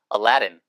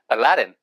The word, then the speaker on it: Aladdin: 참고로 알라딘이라고 하는 발음은 영어로 미국식으로 발음할 때는 Aladdin, 얼레든이에요. 예, 그러니까 알라딘이 아니에요. 예, 그러니까 잘못 듣고 알라들이 뭐고 Aladdin, Aladdin, A Whole New World.